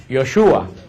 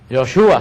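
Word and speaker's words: Yeshua: que nosotros decimos Jesús en hebreo no se pronuncia Jesús en hebreo se pronuncia yoshua yoshua se pronuncia en hebreo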